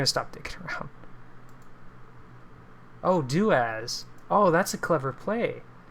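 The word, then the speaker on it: doas: I like that um daaz daaz okay yeah that's how you say it do as okay I like that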